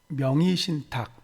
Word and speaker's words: 명의신탁: 먼저 명의신탁할 때 명의신탁 이 중간에 두 번째 음절에 의자를 명의신탁 이렇게 발음해도 되고요. 아무래도 발음이 좀 어렵기 때문에 명의신탁 이렇게도 허용이 됩니다. 그래서 편하게 명의신탁 이렇게 발음해 주면 되겠습니다.